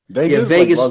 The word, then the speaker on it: vagus: digest so what's the nerve called again the vagus nerve vegas vegas uh it's kind of yeah it's it's pronounced like that spelt v-a-g-u-s instead of v-a-g-a-s